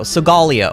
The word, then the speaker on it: Solgaleo: two art hell says solgaleo sigalia okay that's how you say it honestly even when